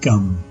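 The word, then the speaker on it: गं: or seed Mantra is gum and is pronounced the same as the English word Gum as most tantrica Bea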